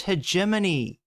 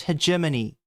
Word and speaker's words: hegemony: I'm sorry. It's pronounced hegemony. You moron. It's pronounced hegemony. Please.